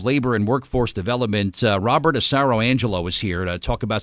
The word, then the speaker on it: Asaro-Angelo: Jersey Department of Labor and Workforce Development Robert acero Angelo is here to talk about some things that